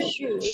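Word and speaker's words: 十: হ্যাঁ আপনার উচ্চারণগুলো বেশ চমৎকার হয়েছে, তবে শি যেটা, হ্যাঁ এটা হবে রাইজিং টোন হবে, তো তো আপনি এভাবে উচ্চারণ করবেন যে শি, শি, শি।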